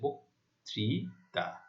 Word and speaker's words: বক্তৃতা: আদ্য অ এর পরে রিকারে দেখতে পাচ্ছি, তাহলে আদ্য অ এর পর যদি রিকার থাকে, তাহলে আদ্য অ এর উচ্চারণ ও এর মতো হয়েছে, বক্তৃতা।